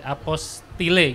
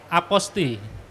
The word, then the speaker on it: apostille: itu apo STIE lele apostille gitu kalau dibaca ya Hai tapi cara baca yang benar itu adalah apostel iya iyalah apostel jadi lelenya tuh nggak dibaca hilang karena itu merupakan dari